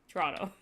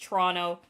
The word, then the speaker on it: Toronto: The last T is silent. You don't have to say all the T's, and you don't have to say all the O's. It's just Toronto. Toronto, me Merca brain is